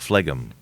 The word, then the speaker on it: phlegm: I'm having a phlegm issue, but some people call it phlegm. But anyway, because there's a silent G in phlegm.